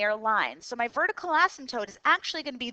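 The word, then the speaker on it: asymptote: y intercepts all right here's our new vocabulary ASM tootes that word is pronounced once again ASM toote okay so we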